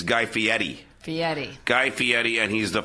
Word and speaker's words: Guy Fieri: face of the Food Network yes I will pronounce it wrong you will correct me it's Guy Fieri yes it's actually because I was the announcer